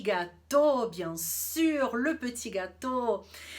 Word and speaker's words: gâteau: E o gâteau, gâteau, termina com AU. Mas a gente não fala gâteau, porque o AU em francês tem som de O.